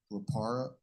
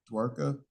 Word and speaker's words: Dwarka: He's going to Dwapara. Is that right? How do you say that? Dwarka.